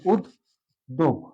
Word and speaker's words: উদ্যোগ: যেহেতু এখানে ওকার আছে এই জন্য আমার আগেরটা যেমন ছিল না কিন্তু নেওয়া লাগছে, কিন্তু এখানে যেহেতু আছে সরাসরি বসে গেল উদ দোগ।